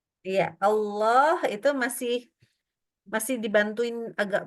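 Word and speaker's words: الله: itu enggak maju mulutnya berarti bukan bulat ya bukan o yaak boleh bulat bukan O enggak bolehak boleh O ya ini bagian belakang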